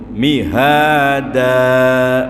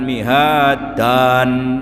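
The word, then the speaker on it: مِهَادًا: ayatnya 6 nggih karenaam itu mihada bukan mihadan Nah apalagi bacanya sudah panjang malah tanwinnya bunyi Nah jadi tanwinnya tidak bunyi Kenapa kemudian dalam ilmu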